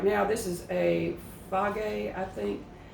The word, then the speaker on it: Fage: So right now, this is a Fage, I think it's pronounced, and it's one that is lower.